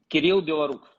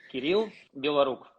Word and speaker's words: Kirill Belorukov: How do you pronounce your name in Russian completely correct, and how do you want to pronounce it in English? In Russian, Kirill Belorukov. Kirill Belorukov.